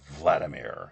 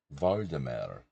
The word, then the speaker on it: Vladimir: My mom still can't say Vladimir. She says Voldemir.